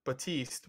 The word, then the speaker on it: Baptiste: not get the reference his name is spelt weird oh it's but batiste yes they spelled it be apt VAP T is T yeah they spelled it Baptiste and funny that's what